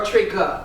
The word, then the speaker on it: Trigga: Is it Trigger or Trigga? Trigga.